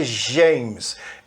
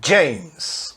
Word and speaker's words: James: DJ é a pronúncia sempre do J no começo da palavra. Não é James, é James, ok?